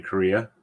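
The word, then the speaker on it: Correia: I'm assuming that's Larry Korea U but yeah it's spelled c r re e i a yes it has three vowels in a row uh and it's just pronounced like the country Korea no that's not he's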